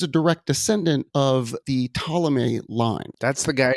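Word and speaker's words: Ptolemy: direct descent of the té line that's the guy it starts with PT right exactly it's that silent P like that can trip you up a lot of people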